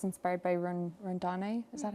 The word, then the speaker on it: Rondane: multitude of Norwegian mountains, but it's inspired by Rondane. Is that how you say it? Yeah, Rondane.